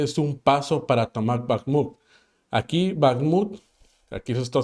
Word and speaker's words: Bakhmut: Bakhmut, depende, pero ese es el patrón de pronunciación, Bakhmut.